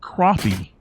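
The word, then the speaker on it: crappie: that's just like the the name of the fish is not crappy it is crappy just like like it spelled crappy like I went and took a crappy it is not crappy there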